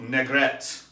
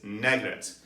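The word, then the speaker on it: Négrette: called n-e-g-r-e-t-t-e and uh the french have a little axon mark over the first e so i think it's negat at any rate this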